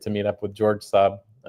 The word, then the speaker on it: Raab: Well, once again, I say it's like the car Saab, S-A-A-B.